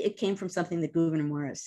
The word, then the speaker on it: Gouverneur: Gouverneur Morris, sorry. My fault. Believe that's how you pronounce him.